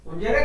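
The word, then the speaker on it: unsere: उंजेरे उंजेरे। Kinder, उंजरे उंजेरे Kinder, उंजेरे Kinder, ये okay, उंजेरे Kinder, okay.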